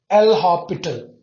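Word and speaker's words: L'Hôpital: Whenever it is 0 by 0, the first method that you have easily L hospital. It's hospital, they write it a hospital, they spell it. Okay, S is silent.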